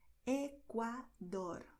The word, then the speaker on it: Ecuador: in Spanish you're going to say Paraguay, Mérida, Ecuador. You see, by Ecuador, the tongue does D with a lot of contact and slowly, and then does dor. This R at the end is really quicker, okay? Ecuador.